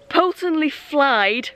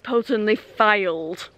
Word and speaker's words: Poulton-le-Fylde: to go to myself potently flied rhymes with outside and this station doesn't so it's potently failed potently failed it's